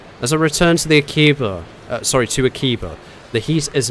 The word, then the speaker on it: Akiba: So it's Akiba. Akiba.